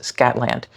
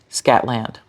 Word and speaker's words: Scotland: guy in the video, as Americans, we read this as Scatland, which is not at all what he said. Scotland. Scotland. Not the same. And when we read this, we pronounce it as Scotland. That's a normal North American pronunciation. Now, his first vowel is very open. Scotland. And maybe that open vowel is the way you would read this word in your accent. But remember, it's an accent.